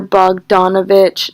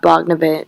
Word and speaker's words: Bogdanovich: they all laugh pause I totally just realized I pronounced his name wrong it's Peter Bogdanovich not Bachna and